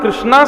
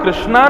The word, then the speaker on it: कृष्ण: जो लोग भगवान का नाम कृष्णा संबोधित करते हैं, वो एक प्रकार से द्रौपदी को पुकार रहे हैं। भगवान का नाम कृष्णा नहीं है। भगवान का नाम कृष्ण है।